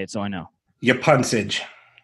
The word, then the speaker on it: Yapuncich: Yapuncich. Yes. All right. I've been not. Not. I haven't seen pun kick. Yapuncich. Yapuncich is here.